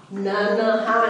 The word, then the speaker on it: नन्हा: न संयुक्त ह आकर, तो ये पहली वाली न पूरा पढ़ेंगे न, दूसरी वाली न पूरी नहीं पढ़ेंगे, उसे आधा ही बोला उच्चारण करेंगे, और हा न न हा नहीं नन्हा, न एकदम छोटी नन्हा।